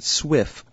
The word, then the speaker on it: SWF: you see here it's already appended the swf pronounced Swift format for us so we can go ahead